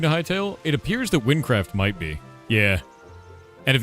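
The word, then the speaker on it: Wynncraft: It's Windcraft. It's spelled W-Y-N-N.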